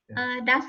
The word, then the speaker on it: DASS: Have you all heard about DAS score, DAS test? DA, it's spelled DASS.